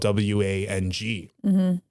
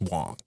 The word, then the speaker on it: Wang: biggest one is like their last name is Wong but it's spelled w-a-n-g and like a lot